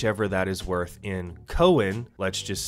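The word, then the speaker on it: Koen: currency otherwise known as Cohen which ironically enough sounds a lot like coin but it is pronounced Cohen now the issue arises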